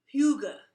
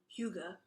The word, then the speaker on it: Hygge: And the word is Hyuga, and it's spelled Hygge, and it's a Danish word, and it's pronounced Hyuga.